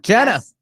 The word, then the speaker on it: Genna: Nope, Genna. Genna. I thought it was Genna. Soft G. Soft G.